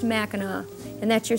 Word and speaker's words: Mackinac: which is the French version but they're all pronounced Mackinac and that's your spelling lesson for today no